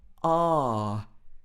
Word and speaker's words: R: then we've got ah so this is a very british english sound uh for this letter ah it's just a very long sound almost like you're going to the dentist and they ask you to open your mouth wide ah ah like that s